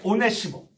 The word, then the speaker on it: 오네시모: 여러분 한번 발음 따라 해볼까요? 오네시모.